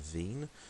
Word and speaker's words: Wien: by the name of veen um it's german so therefore w is pronounced with a v if you pronounce it